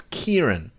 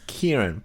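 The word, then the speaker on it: Ciarán: It's a stupid fucking Irish name. It's Kieran. The director? Yep. Oh, Christ. It's Kieran.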